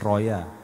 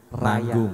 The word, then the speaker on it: Raya: Iya, bacanya jangan Roya. Oh iya. Raya.